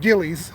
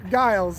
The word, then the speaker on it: Giles: pronouncing that wrong for years. I've been pronouncing it Gillies. That could be, I don't know. No, I think you're right. Giles.